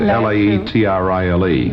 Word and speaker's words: Laetrile: Now, this injection, I've got it written down here because you call I didn't know how to pronounce it. L A E T R I L E.